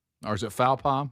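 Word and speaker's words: faux pas: Scott, or is it fauom? How do you say it? Faux faux pa.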